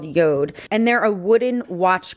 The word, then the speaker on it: Jord: be doing and so it's by this company Yoda that's how you pronounce this called Yoda and they're a wooden watch company and so